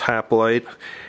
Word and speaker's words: hoplite: it's unpunched it's got some line drawings of hoplites and stuff on the counters actually let's pronounce oh plite i believe in greek but everywhere else in the world that's pronounced haploid and a lot of informational markers and stuff